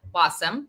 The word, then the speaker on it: Wasem: This is People of Substance by LemonSkies, and my guest today is Jen Wasem, rhymes with awesome.